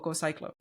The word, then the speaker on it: GoCiklo: Is it GoCiklo or GoCiklo?